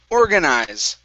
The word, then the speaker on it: organize: And your last word is organize. Okay, your stress is at the very beginning of the word as well.